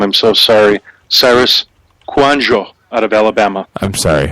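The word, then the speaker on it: Kouandjio: name right or how did how do you pronounce that great job man I just want to hear you say it again kanano he's 6'6 322 pounds played left tackle but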